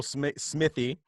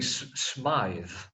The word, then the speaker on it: Smythe: on a global level, Smithy, or as they say in Britain, Smythe. How do you say it? I think probably Smythe.